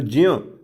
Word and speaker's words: ज्ञ: लेकिन असल में संस्कृत में ये देखा जाए तो इसमें ज आधा और य पूरा होता है बच्चों, ज आधा और य पूरा होता है। तो ज्यों, इसका सही उच्चारण संस्कृत भाषा में ज्यों है।